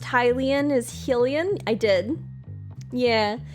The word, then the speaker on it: Hylian: Wild came out and I learned that it was um Hilian instead of Helen which is how how I had always been pronouncing like I understood that